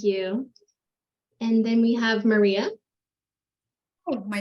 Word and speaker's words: Mariah: Mariah hi everyone I almost started talking when Maria was talking because I'm so used to my name being pronounced Miss pronounced Maria um hi everyone Mariah with Richard the Delta I'm the campaign